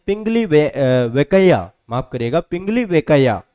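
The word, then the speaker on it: Pingali Venkayya: यह हैं पिंगली वैक वयंका। ठीक है? बहुत कम लोग इनका नाम जानते हैं। पिंगली वेकैया। माफ़ करिएगा। पिंगली वेकैया है ना?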